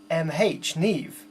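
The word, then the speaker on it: Niamh: And is that spell N-I-A-M-H, Neve? Wow, that's crazy. I would never have thought to pronounce it like that. It's Irish.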